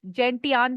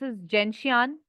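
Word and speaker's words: Gentian: थ crab Apple थ alum थ जेंसिया कुछ जेंटियाना भी बोलते हैं बट आई प्रोनाउंस जशिन नेक्स्ट इ gorge next heather Holi 16 Honey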